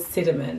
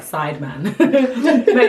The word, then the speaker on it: Sidemen: And it's called Cinnamon. It's spelled like Sideman. Or Sidemen.